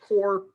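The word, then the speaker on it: coir: the time is called core uh it's spelled c-o-i-r um but we say it core um and it is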